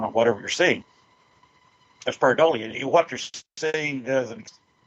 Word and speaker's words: pareidolia: You may have to help me with the pronunciation of this word. Pareidolia?